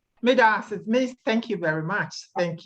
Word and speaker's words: medaase: Alex, are you there and willing to unmute and pronounce the word? Hi, I'm not Ghanaian, but it's Madasi. Madasi, thank you very much.